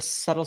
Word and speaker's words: subtle: t l e subtle we've kicked all silent letters out of the English language Lisa and Sam have they're gone they're done we're just going with how they sound subtle s u TTL